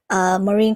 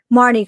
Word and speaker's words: Marnie: How do you feel about the US releasing the Marine card? Not Marine. Oh my god, I can't pronounce her name now. Help me out, you guys. Marnie card as a promo.